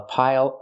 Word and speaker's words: pile: Use the dark L at the end. It changes the vowel.